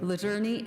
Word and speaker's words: Luzerne: to have to help me with the actual pronunciation of all the counties. We have Wayne, Wyoming, Monroe, Luzerne, Luzerne? Luzerne, and say it again for me.